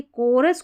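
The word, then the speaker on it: chorus: देखिए कोरस को आप चोरस पढ़ सकते हैं। तो याद रख लें इसको कोरस पढ़ना है और इसको चोओस पढ़ सकते हैं।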